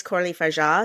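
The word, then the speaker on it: Coralie Fargeat: And you look at even like, what's Coralie Faget? Is that the pronunciation? Did I just ruin everything? I think I've pronounced Coralie Faget in my head forever, but apparently it's Coralie Faget.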